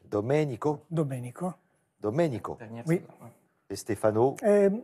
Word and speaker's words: Domenico: Et pour vous, Stefano et Domenico. Domenico. Ah, parce que j'ai notre ami Olivier, que vous connaissez bien, le numéro magique, c'est le numéro 10. Qui me reprend sur l'accent tonique. Domenico.